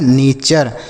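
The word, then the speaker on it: nature: बस एन ए से पढ़ेंगे ने और टी यू आर ई को पढ़ेंगे चर। तो लिखा है नेचर।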